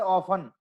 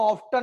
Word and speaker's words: often: जैसे इंग्लिश में शब्द है ऑफन, OFTEN, ऑफन माने प्रायः, लेकिन कोई उसको ऑफ्टन नहीं बोलता है। क्या ऑफ्टन बोलता है कोई? ऑफन बोलता है, उसमें टी साइलेंट रहता है।